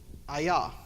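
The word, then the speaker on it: אהיה: the present active version, which is Ayah. I know it sounds like a karate shot, but Ayah or Ayah is I am.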